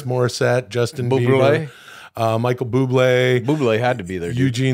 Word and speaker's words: Bublé: Michael Bublé. You're not pronouncing the accent at the end.